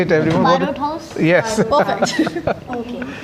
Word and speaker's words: Barot House: Barot House?